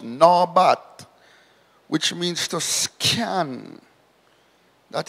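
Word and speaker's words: נבט: It's pronounced nabat, which means to scan.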